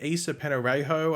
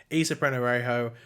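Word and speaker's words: Ysa Penarejo: Well, we knew that Issa Penorejo, I think that's how you pronounce the name of it. I think I've only done one video where I pronounce it, but I think it's Issa Penorejo, had been cast in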